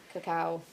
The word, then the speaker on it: cacao: Cacao.